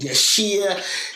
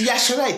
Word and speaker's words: Yashere: The Yashere, because the I is almost is Yashere, the I is silent. So I dropped the I to help people pronounce it properly. And they still mispronounce it for a long time. I get called Yashir, Yashu, so I have to I've got this thing now. I go, it's Yashere. Think Yash. Hooray!